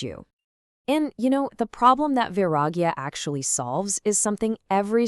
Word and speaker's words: Vairāgya: Now, that's pronounced V-I-R-A-G-A.